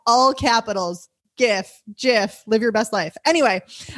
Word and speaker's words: GIF: gifts g g i f all capitals gif jiff live your best life anyway um so joanna